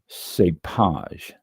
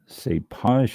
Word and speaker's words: cépage: This is a French term for grape variety, and it is pronounced cépage. Cépage is a French term for grape variety.